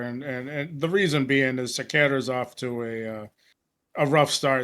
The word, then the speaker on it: Cerqueira: And next up, we have Julius Walker taking on Raffael How do you pronounce that last name, Carlos? Cerqueira. Cerqueira, that's it.